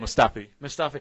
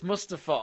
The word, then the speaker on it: Mustafi: Mustafi. I say it like it's Mustafa. You sound like Mustafa.